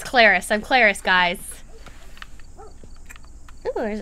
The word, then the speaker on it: Clarice: It's pronounced Clarice. It's Clarice.